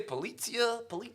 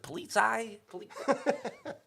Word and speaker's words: Polizei: They get closer, and I'm like, that should say Polizia. I can't pronounce it. Polizei.